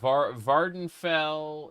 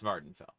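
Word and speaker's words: Vvardenfell: How do you pronounce it? Vanfell. I Yeah. Yeah. Um V Vardenfell is right there. Yeah, that that's Vardenfell.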